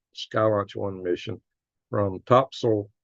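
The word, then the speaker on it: Topsail: launch One mission from topsil that's what the local called topsil it's spelled top sale Beach North Carolina and I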